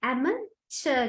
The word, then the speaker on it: amateur: ඔයගොල්ලන්ට පේනවා CH එකක් නෑ. ඒකට අපි මේක pronounce කරන්නේ amateur කියලා.